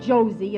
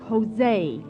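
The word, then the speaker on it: José: e turby it's not josie it's jose in spanish j is pronounced like h oh well let's go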